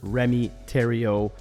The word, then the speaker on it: Rémi Thériault: none other than Mr Remy Terio pronounced like Ontario but spelled a lot differently uh Remy is an